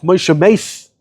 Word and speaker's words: Moshe Mas: Why is he called Moshe Mas? It's spelled Mem Sof, Moshe Mace.